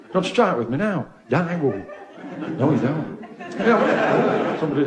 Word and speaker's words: Daewoo: It's Daewoo, isn't it, it's pronounced. That's wrong. It's Daewoo.